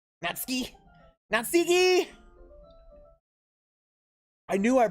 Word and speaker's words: Natsuki: jay cormac would like to have a word natseki ski natsuki i knew i pronounced it wrong but like when it came